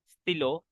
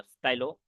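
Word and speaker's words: stylo: This word is crayon, pair, mayor, Frere, sir, स्टिलो नॉट स्टाइलो, लिव्र, काइये, कारताब्ल, शोकोला, watcher.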